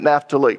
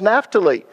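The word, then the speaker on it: Naphtali: that naft how many of you grew up pronouncing it napali that's the way I always pronounced it until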